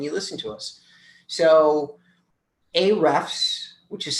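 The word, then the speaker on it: Ahrefs: you come and you listen to us so a refs which is spelled a a-h-r-e-f-s is a tool that you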